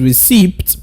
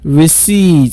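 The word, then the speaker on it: receipt: you try that now most people would say the word is received pronouncing the letter P but the letter P in that word is silence so you just say recedes can I hear you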